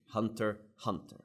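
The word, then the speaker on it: Hunter × Hunter: Hunter going hunting Jin Hunter Hunter okay no X but if you want to pronounce the X obviously no no problem man you do you it's fine now did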